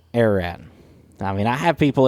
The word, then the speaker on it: Ararat: And, yep, that's how you say it, Ararat.